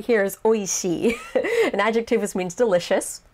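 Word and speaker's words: 美味しい: delicious it's a beautiful flavor uh but yeah o ishi in this case it's like pronounced o and then that that next character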